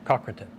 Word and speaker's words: Cochranton: In the area of, is it pronounced Cochranton? Cochranton.